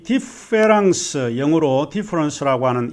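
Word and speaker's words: différance: 많은 철학자들은 이 디페랑스, 영어로 디퍼런스라고 하는 이 말에 변별이 어렵다라고 하는 것을 인정합니다. 디페랑스와 디퍼런스, 프랑스 말로 디페랑스는 똑같이 디페랑스라고 발음을 하고 있습니다.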